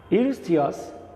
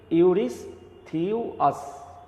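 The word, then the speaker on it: Eurystheus: ইউরিস্থিয়াস উচ্চারণটা দেখো ইউরিস্থিয়াস, হ্যাঁ, ভুল উচ্চারণ করা যাবে না, তাই তো, ইউরিস্থিয়াস দ্য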